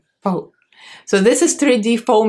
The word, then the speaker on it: faux: This is 3D Mink Fox. What do you call it? Faux? How do you pronounce it, John? Faux? Not fox? Faux.